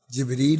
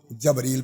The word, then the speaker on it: جبریل: درست کیا ہے کہ زیر کے ساتھ جبریل علیہ السلام کہنا چاہیے. قوال جب بولیں گے وہ جبریل پڑھیں گے, وہ جبر کرنے والے میں سے آتے.